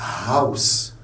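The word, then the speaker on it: Haus: Le H se prononce. On dit house.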